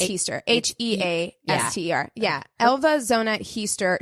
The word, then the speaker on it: Heaster: zona uh hester easter easter how do you spell it it's easter h-e-a-s-t-e-r yeah elva zona heaster she went by